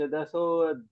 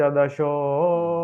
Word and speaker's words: दशो: वहा प अथ पंच दसो नहीं रुको रुको रुको रुको मैं क्या बोल रहा हूं अथ पंच दशो अध्याय यहां पर देखिए